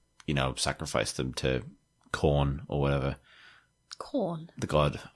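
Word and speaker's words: Khorne: actual like the grain it's not spell corn it's like the opposite of meat it's spelled k h o r n e k h o i oh okay fine corn the god of murder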